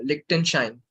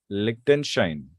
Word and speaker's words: Liechtenstein: Sir, it is pronounced as Liechtenstein. Liechtenstein.